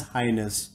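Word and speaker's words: H'ness: Honda could not register the word Highness and therefore has gone ahead and registered the word Hness, pronounced as Highness.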